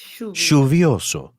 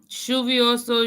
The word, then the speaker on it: lluvioso: You will hear all of these pronunciations throughout our course so that your ear will get used to these sounds. No matter how you choose to pronounce it, though, native speakers are aware of these differences, and they will understand you.